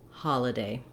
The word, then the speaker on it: holiday: Lastly, we end on day, which has our diphthong a. So it sounds like holiday, long, short, short. You can hear if I use the vowel, holiday, or I use the vowel, holiday, doesn't really make much difference. I just don't want a lot of length there. That's what's called a reduced vowel in an unstressed syllable.